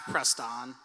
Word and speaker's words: Preston: Oh your name's Preston it's pronounced pressed on ok pressed on so cute oh what'd